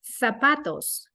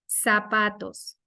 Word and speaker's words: zapatos: So in this case, if you're in Spain, you will say the word zapatos. If you're in Latin America, you will say the word zapatos. It's different. The emphasis is different.